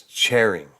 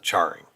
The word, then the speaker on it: Charing: at least 100 years so it's cheering grass not charring like I've been pronouncing all right good um